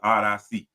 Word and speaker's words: Oddisee: I got if you don't know who Odyssey is, Odyssey. That's how you say his name.